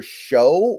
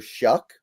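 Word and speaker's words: Shough: It's Tyler Show or Tyler Shuck. I've had some people tell me his name is pronounced Shuck, but it's looks like it's spelled show, so whatever.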